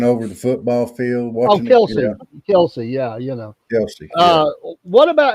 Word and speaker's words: Kelce: Kelsey, yeah, Kelce.